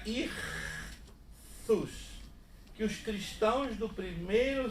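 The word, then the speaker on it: ΙΧΘΥΣ: A palavra grega irthus. Né? Se lê istus, mas se pronuncia irthus.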